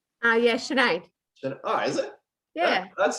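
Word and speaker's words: Sinéad: Yeah, Sinead. Oh, is it? Yeah. That's spelled.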